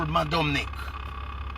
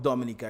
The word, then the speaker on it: Dominica: Yeah, but you're saying it wrong, sir. It is not people talking about Mad Dominique. People are talking about the leadership of Dominica.